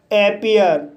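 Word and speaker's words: appear: जैसे एपियर, एपियर शब्द में ई ए के बाद आर आया है, इसलिए ई ए का उच्चारण ई आ होगा, इसलिए इसे एपियर पढ़ा जाता है।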